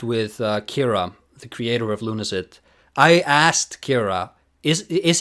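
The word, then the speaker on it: Lunacid: props you for pronouncing like lunacy instead of acid as everyone else seems to uh I was uh this is the conversation I had with Kira the creator of Luna it I asked Kira is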